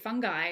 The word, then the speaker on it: Fungi: You can go to Netflix and watch Fantastic Fungi, which is how we pronounce that word.